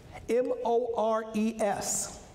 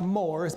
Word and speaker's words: mores: But there's a word on the screen spelled M-O-R-E-S. It looks like Moors, but the word isn't Moors. It's a two-syllable word. The word is mores.